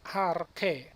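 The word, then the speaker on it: ἀρχῇ: kata yang pertama adalah AR ke masih ingat yang dikatakan tadi Yota subsrips ini yang ada di bawah daripada huruf Eta Ini ar ke tidak ada bunyi dia Diam dia tidak perlu diucapkan tapi kita harus kenal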